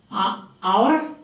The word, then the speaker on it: hour: Hour, an hour. Why an hour? Although this is H here, it is not pronounced. Silent, therefore an hour.